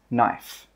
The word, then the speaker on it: knife: So when we pronounce this word, it's knife.